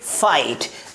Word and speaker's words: fight: रहे तो उसमें लेटर जो GH है उसकी प्रोनाउंस नहीं की जाती है, जिसे क्या पढ़ेंगे, फाइट।